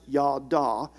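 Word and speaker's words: ידע: knowledge that Hebrew word for to know is pronounced yada Scholars have defined it as a mingling together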